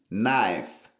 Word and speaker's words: knife: dire couteau pour prononcer en anglais ou pas prononcer knife plutôt dit knife knife kniif ça lui même il vou dire